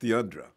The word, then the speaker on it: Theundra: It's you spell it THEUNDRA. Pronounced Deandra. Boy, she.